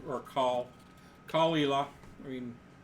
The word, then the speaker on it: Caol Ila: Yeah, it's Caol. Like, Cool. or Caol Ela.